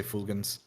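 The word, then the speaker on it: fulgens: I think in I think in Latin they use the hard G only. So I'll say fulgans.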